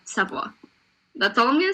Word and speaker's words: Savoie: But, it's Savoie.